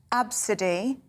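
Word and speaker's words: Abcde: Parents of, this is pronounced Absidy, but it's spelt A-B-C-D-E, like the first 5 letters of the alphabet, yeah. Absidy.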